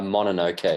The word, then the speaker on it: Mononoke: The Princess, what was the pronunciation? Mononoke? The last? Mononoke, yeah.